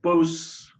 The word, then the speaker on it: Bausse: Well, should be Bausse normally. Bausse. More the French pronunciation.